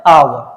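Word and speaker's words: hour: एच आपका क्या है एच साइलेंट होता है ध्यान रखना आवर का ब्रिटिश में आर भी साइलेंट रहता है इसका जो उच्चारण आता है वो आता है आवर ये हा ओनली हल्का सा साउंड रहता है लेकिन आर का प्रोनंसिएशन ब्रिटिश इंग्लिश में नहीं किया जाता है तो राइट आंसर क्या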